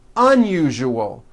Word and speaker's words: unusual: Okay, now try unusual. Un-u-ju-ol. Unusual.